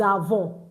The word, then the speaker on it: avons: I said nous avons. Now, take note. Write it now in your French notes. That when you have letter S in between two vowels, you pronounce it as z, z, z.